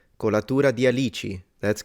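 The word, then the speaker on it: alici: gum Katura di alichi oh I appreciate you pronounced it right Katura di alichi that's correct cuz people that don't know Italian usually say we'll read it alissi uh so I appreciate that alichi nice thank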